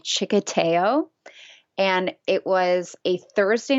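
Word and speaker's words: txikiteo: what I thought but it actually starts with a TXI so in chicko it's spelled TXI k i t e o so chicko got it that's um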